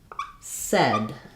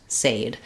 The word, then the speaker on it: said: So it sounds more like said, like as in red or bed. So this word said is an exception to our spelling patterns and rules where it has the sounds uh of words spelled like this and it doesn't have the sounds of words spelled like this. So, it's understandable why a word like said, you might think it's pronounced sade.